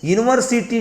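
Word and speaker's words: university: ही इज यूनिवर्सिटी teacher.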